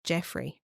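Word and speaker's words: Jeffray: Jeffrey was uh and that's spelled g e FF r a y That's why I'm not saying Jeffrey oh jeffre yes he was a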